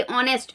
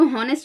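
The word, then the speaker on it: honest: N Urdu teacher होगा ये ऑनेस्ट इसको नेस्ट मत पढ़िए इसको ऑनेस्ट पढ़ा जाता है एस साइलेंट होता है इसमें तो ऑनेस्ट अ से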